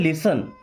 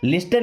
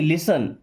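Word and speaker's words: listen: दोस्तों इस वर्ड में देखिए टी साइलेंट होता है, इसे क्या पढ़ते हैं? लिसन। लिस्टन नहीं, लिसन।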